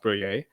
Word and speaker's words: briller: And I don't know if you're familiar with French or if you've heard of the French word, but briller is actually pronounced brouiller.